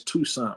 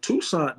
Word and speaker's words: Toussaint: Okay, if it wasn't for, now you corrected me last time, I had trouble pronouncing his name, but his first name is Toussaint, right?